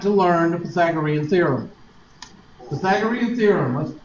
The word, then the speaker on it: Pythagorean: Pythagorean theorem, let's pronounce that because it sounds awful when you try to pronounce it when you're ignorant.